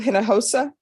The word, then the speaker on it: Hinojosa: Hinojosa. Thank you. H's are silent. Yeah, but see it's HINOJOSA and then. H and J are like the same. H, Ah. H is silent, J is H.